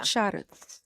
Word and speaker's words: Šarac: Šarac.